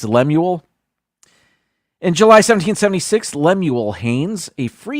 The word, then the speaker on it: Lemuel: It's like Samuel, but it's Lemuel.